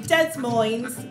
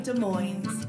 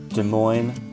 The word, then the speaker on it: Des Moines: us brits to say dead moines but i'm not saying that i'm saying des moines california des moines iowa you just don't pronounce the s so basically the same